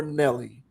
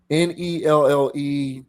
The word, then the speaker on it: Nelle: I think that's Nell or Nelly. I'm gonna go with Nell. Nelle. Typically, that's pronounced Nell. I think Nell Diala.